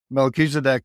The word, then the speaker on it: Melchizedek: oh I was not close at all yeah Melchizedek is uh truly one of the Lords of